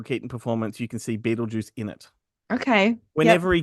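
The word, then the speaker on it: Betelgeuse: So, like, because it's Beetle Guys, I think, in the movie, pronounced Beetlejuice.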